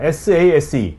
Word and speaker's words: SASE: SASE. 네? 네네, 발음 맞습니다.